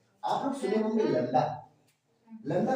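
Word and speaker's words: lambda: हैं Greek Greek लडा लडा नहीं लडा बोलते हैं बी साइलेंट हो जाती है पहचान लीजिएगा ग्रीक ये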